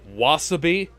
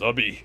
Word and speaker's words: wasabi: His expression Also, wasabi? You're putting the emphasis on the wrong syllable. he makes for an antagonist Wasabi.